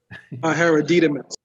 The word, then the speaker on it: hereditaments: Inheritance, hereditaments, or how do you pronounce it, Noble Bay? Hereditaments.